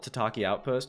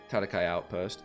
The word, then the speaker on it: Tatakai Outpost: T tatakai you know I've never known how to say it as a kid I always called it t Outpost which is not correct I accidentally pressed my control key so I think it's tatakai Outpost yeah okay fun fact